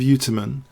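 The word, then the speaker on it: Ujtumen: I think that J can't be pronounced. I mean, I think it must be kept silent. So Tudev Uterman, I would imagine.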